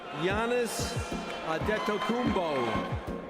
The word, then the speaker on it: Giannis Antetokounmpo: Before walking onto the stage, Stern stood with a European teenager and patiently practiced the pronunciation of his name. Giannis Antetokounmpo.